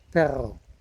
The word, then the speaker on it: perro: And then in Spanish there's a word for dog called, if I can pronounce it properly now, perro, with a double R. The R resonates.